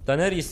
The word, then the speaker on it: Daenerys: Daenerys diye okunuyor kralım.